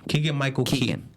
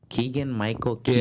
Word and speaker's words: Keegan-Michael Key: Keegan-Michael Key. Keegan-Michael Keegan.